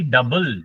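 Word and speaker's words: double: अगर कोई आपसे पूछेगा डबल what do you mean by डबल? डी ओ यू बी एल ई लिखो ये स्पेलिंग डबल इसमें यू जो है वो साइलेंट है लेकिन स्पेलिंग में लिखना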